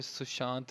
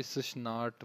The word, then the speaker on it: सुशांत: गलत करो, इवन के यहाँ पे सुशांत लिखा भी और सुशनाट बोल रहा है यार, मतलब लिटरली हद हो गई है।